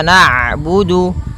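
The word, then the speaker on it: نَعْبُدُ: Kemudian ada huruf ain yang berharakat sukun. Ketika huruf ain berharakat sukun, ain itu punya sifat namanya bainiyah, yaitu bacaan di antara syiddah dan rokhawah. Kalau syiddah suaranya tertahan, kalau rokhawah suaranya mengalir, maka di antara keduanya.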